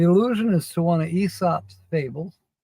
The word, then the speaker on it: Aesop: The allusion is to one of Aesop's fables. Yes, I said it correctly, Aesop, even though it's spelled A-E-S-O-P.